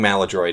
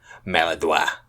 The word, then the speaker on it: Maladroit: But no, I think Maladroit is the common pronunciation. But some people, usually like French people, French Canadians, I've heard Maladroit, which I just don't think is right.